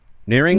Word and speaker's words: Nehring: Craig how do you say your last name nearing nearing nearing yeah we will be back talking